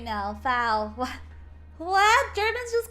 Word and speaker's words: Frau: Foul. What? Germans just call girls women? Okay. It's like lady or miss. Oh, foul rhymes with cow.